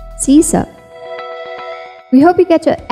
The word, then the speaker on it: sysop: Pronounce this based on its root words, system and operator. So that's Sysop. Sysop.